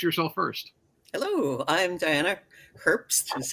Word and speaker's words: Herbst: Hello, I'm Diana Herbst, is how it's pronounced.